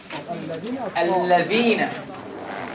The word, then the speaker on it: الذين: when pronouncing the word الذين, the tongue should be between the teeth. And a lot of people said false. الذين.